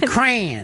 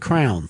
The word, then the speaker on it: crayon: Crayon. It's one syllable. Crayon. And that's weird because I grew up when we said crown. Crown. It was a crown.